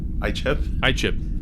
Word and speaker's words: Icheb: Icheb?